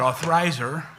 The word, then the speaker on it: Althizer: She told me how to pronounce it, Althizer.